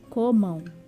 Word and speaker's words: Comam: Comam, embora termine com an, nós falamos como se fosse ão. Comam.